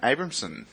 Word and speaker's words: Abrahmsen: And finally, we've got Abramson. Oh, wow, you got my name right. Awesome. Would you like hello. to spell that for those who don't get it?